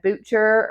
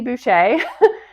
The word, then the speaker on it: Boucher: She said Butcher or something like that, which is common for people to pronounce it that way. But anyway, I said, oh no, it's Boucher.